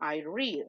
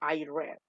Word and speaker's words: read: Se escribe igual, pero se pronuncia diferente. Yo leo, I read. Yo leí, I read.